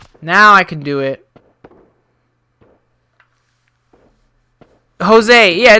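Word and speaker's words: José: Jose. Yeah, it's Jose. It's Jose. The J is silent. It's got an H sound.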